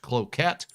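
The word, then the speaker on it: Cloquet: And that would be all the way out towards the uh well Cloet area otherwise pronounced Cloette for some of us.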